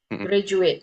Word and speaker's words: graduate: Kalau ini graduating ini kan T-nya itu kayaknya tipis gitu. Heeh. Ah, gak kentara ya D-nya ya, graduat ya. Tapi yang bagian depannya sebelum sebelum ding ini graduate itu graduate itu harus kentara ya.